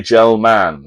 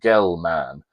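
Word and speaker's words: Gell-Mann: Murray gelman, sometimes pronounced gell man.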